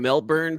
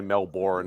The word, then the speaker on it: Melbourne: A lot of Americans say Melbourne instead of Melbourne.